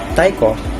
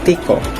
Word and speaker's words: Tycho: in the Danish region of scarnia which is now in Sweden some of us pronounce his name as Taiko and that's literally okay as for me I prepare using Tikko his father was old